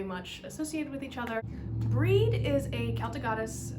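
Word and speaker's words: Brigid: the way it is it doesn't sound the way it's spelled so it's spelled b-r-i-g-i-d or sometimes b-r-i-g-i-g-h-i-d so it looks like brigade so breed eventually um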